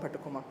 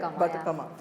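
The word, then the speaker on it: Bathukamma: which has grabbed my attention is the song Bhatakama. I said it right? Correct, Right? Batakama.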